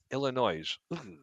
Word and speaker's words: Illinois: Is it or is it not like nails on a chalkboard when people try to say Illinois and they enunciate the S at the end? Illinois.